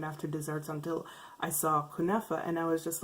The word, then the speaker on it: kunafa: It's spelled kunafa, but it's actually pronounced kunefa.